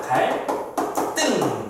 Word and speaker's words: 갈등: 한자어 리을 받침 뒤에 오는 드스즈고 된소리로 말해. 그래서 갈등 상황이다. 갈등 이렇게 발음을 하는 거죠.